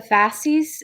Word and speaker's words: fasces: and the fourth one i think it's pronounced the fasces is that how you say it jonathan yes okay fascist